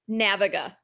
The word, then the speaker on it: Naviga: CEO of a 20-year-old sales recruiting company called Naviga. Did I pronounce this right? Naviga.